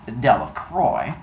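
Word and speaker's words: Delacroix: Harry Jones and delro the villagers pronounced this name Delroy eventually made a great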